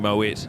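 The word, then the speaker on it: Moët: They're all just drinking Moet. They're the only people who paid enough money. I'm so glad you pronounced the T.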